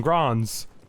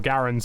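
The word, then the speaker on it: Garand: But obviously the Americans have M1 Grands and... or Garens, however you prefer to pronounce it.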